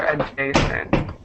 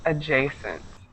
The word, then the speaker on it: adjacent: And make sure the pronunciation is good on that word. It might be a little confusing because you have the DJ, but the word is adjacent.